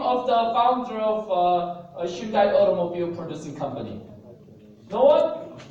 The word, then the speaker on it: Hyundai: That's Hyundai.